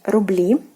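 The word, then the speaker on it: рубли: E, and we get rubli, rubli, rubles. And again, the stress position is changed, ruble, into rubli. So again, the stressed syllable is the last one, which is actually the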